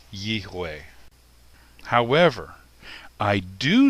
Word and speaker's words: Yahweh: It's possible that the V sound may have come from a Germanic European influence. So rather than Yiveh, it would be Yihweh.